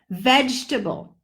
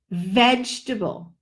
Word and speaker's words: vegetable: we right table but it's vegetable vegetable vegetable three beats three syllables vegetable not vegetable there is no table you can put